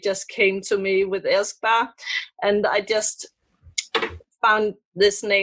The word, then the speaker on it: Elskbar: How do you pronounce Elskbar? Elskbar.